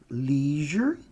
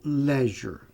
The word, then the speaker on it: leisure: Essa aqui também tem 2 pronúncias. Essa aqui eu posso dizer leisure ou leisure.